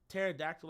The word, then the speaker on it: pterodactyl: Pterodactyl. Pterodactyl. Bitch, what you mean? It's pterodactyl. It starts with the letter P. Like, as a kid, I will never. Well, the P is silent.